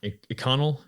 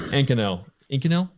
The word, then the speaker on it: Inconel: It's the popular material that a lot of people use is I'm going to butcher the name, Inconel. Thank you. Whatever. Yeah. That. Thank you. Inconel.